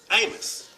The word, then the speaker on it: Amos: So you have here Amos, right? It says, in the Old Testament, there is the book of Amos, pronounced Amo, A-H-M-O, Amo.